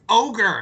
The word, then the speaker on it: Ogre: a friend when I was a kid who pronounced it overy battle and he used to piss me off so much cuz I'd be like it's ogre and he'd be like no it's it's OG